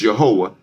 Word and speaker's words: Yehowah: It's Yehowah. That's how you pronounce the name.